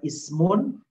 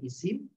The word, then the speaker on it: isim: fi'il lalu yang kedua Ismun atau bahasanya Isim dan yang ketiga harfun